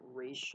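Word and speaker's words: Ra's: from the lowest pronunciation race is how it's really pronounced um so why would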